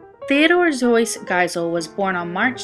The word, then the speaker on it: Seuss: Seuss, but most Americans pronounce his name Zeus instead of Seuss like his German ancestry, and that is how Ted Geisel became the man we know today as Dr.